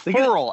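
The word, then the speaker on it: Ferrell: Anyways, It's Furl, actually. It's Cleland Furl. It's that not even. Farrell? It's not even Farrell. No, it's Furl.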